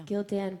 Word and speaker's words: Gildan: My next show is Sunday at the Gildan. Is that how you say it? Yeah. Gildan Broadway stage down at the Hard Rock Cafe.